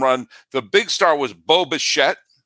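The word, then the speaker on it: Bo Bichette: the big star was Boba shet it always sounds like I'm saying Boba Fett when I say his name Boba shet went five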